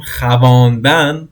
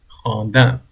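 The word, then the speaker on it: خواندن: We write down khavandan, but it is khandan.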